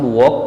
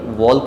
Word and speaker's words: walk: WALK, यहाँ भी L silent है क्योंकि यह ए के बाद आ रहा है, तो इसे हम वॉक पढ़ेंगे, वॉल्क नहीं पढ़ेंगे। वॉक मीन्स होता है चलना या घूमना फिरना, तो यहाँ पर एल साइलेंट हो जाएगा।